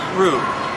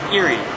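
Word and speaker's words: 入: So in Chinese it's ru, and in Japanese it's iri, sometimes mu. Now, if you put both of these together, you get an entering mouth, which is an entrance.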